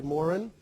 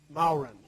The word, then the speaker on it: Mauren: when people don't know me they usually say morin when they do know me they say and I usually pronounce it bowren so good to be with you I was